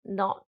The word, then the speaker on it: knot: we have not and not so not with the k in front the k is silent and it talks about